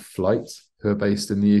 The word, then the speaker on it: Flyte: by a band called Flight, who are based in the UK. I don't know if you've heard of them. I haven't. I'm gonna look them up. Yeah, so it's spelled FLYTE.